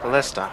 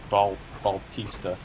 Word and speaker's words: ballista: Ballista. I need to pronounce it correctly. Yeah, it's a ballista. It's not a Baltista.